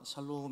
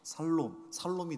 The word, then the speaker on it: 샬롬: 샬롬 인사하겠습니다. 샬롬. 샬롬. 샬롬은 발음을 못해도 괜찮아요. 살롬이 되고요.